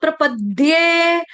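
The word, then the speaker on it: प्रपद्ये: ऊपर आघात आ जाएगा हलंत द का प्रपद्य प्रपद्य प्रपद्य यह प्रपदे नहीं है इसको गलती से दे मत पढ़ देना पेन दे कॉपी दे समोसा दे रोटी दे फुल्का दे पानी दे दे नहीं है इसको दे नहीं समझेंगे प्रपद्य दे विद्या वाला द उसके ऊपर ए की मात्रा दे प्रपद्य क्लियर आ रही है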